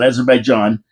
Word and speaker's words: Azerbaijan: it and it's about raising a flag to Azerbaijan. Am I right Dave Wheeler? That's how you pronounce it. Azerbaijan.